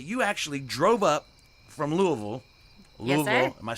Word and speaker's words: Louisville: But I've been told tonight that you actually drove up from Louisville. Yes, sir. Am I saying it right? Like, pretend you have just a whole bunch of cotton in your mouth.